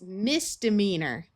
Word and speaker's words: misdemeanor: We can add another prefix, misdemeanor. You might notice that when we added this prefix, this long E sort of disappeared and turned into a schwa sound of a short U or short I.